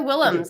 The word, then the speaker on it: Willems: No, that was Willems. Okay. Yes, it's the Dutch pronunciation.